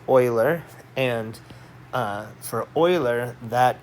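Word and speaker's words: Euler: Oiler and so I know it looks like uler um and uh but it's pronounced Oiler and uh for Oiler that e is that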